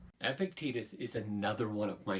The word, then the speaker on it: Epictetus: Epictetus is another one of my favorites. Oh, start there with pronunciation. Ancient philosopher, pronunciation probably closer to something like Epictetus, but we'll just say Epictetus, that's what people say.